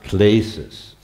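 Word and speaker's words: κλῆσις: The major word that you're going to become acquainted with tonight is a Greek word that is pronounced klesis.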